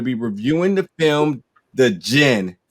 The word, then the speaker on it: Djinn: reviewing the film the gin the d is silent folks uh which is coming to theaters and on demand may 14th now today we're diving into this film called the gin it's about a young